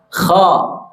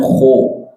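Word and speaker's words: خ: Kha. Oke, buka mulutnya. Kha. Jangan khu.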